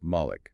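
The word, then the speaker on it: مَلِك: However, in the reading known as war, which is dominant in North Africa and several other authorized readings, it is recited as Malik with short a.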